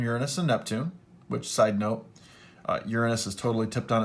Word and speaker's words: Uranus: here Jupiter Saturn Uranus and Neptune which sidenote Uranus has totally tipped on its side and it